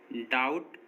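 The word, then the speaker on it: doubt: जैसे date, डाउट, subtle, इन सभी words में देखिए टी से पहले बी आया है और जब भी किसी वर्ड में टी से पहले बी आएगा तो बी साइलेंट होगा।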